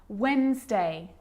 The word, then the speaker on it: Wednesday: Yep, it can be silent too. Wednesday, handsome, sandwich.